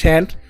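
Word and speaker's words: shan't: শ্যাল নটের বেলায় একই জিনিস, শ্যাল নটের শর্ট ফর্ম হচ্ছে শান্ট, দুটি উচ্চারণ, শান্ট বা শ্যান্ট, দুটি কারেক্ট প্রোনাউন্সিয়েশন, তো এটি ইউজ করতে হবে।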